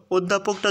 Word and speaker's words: অধ্যাপক: হয়ে যাবে ঠিক আছে তাহলে অ এর উচ্চারণটা ও এর মত উচ্চারিত হচ্ছে অধ্যাপক শব্দে ও এর